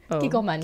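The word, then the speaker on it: Kikkoman: Kikoman, you said it right.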